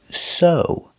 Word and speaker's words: sew: is O that's right this word is pronounced so the ew makes long o sound like no and grow so so is a